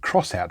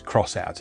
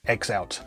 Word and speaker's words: X-Out: the loading screen that you're supposed to pronounce it's crossout not x out as i always assumed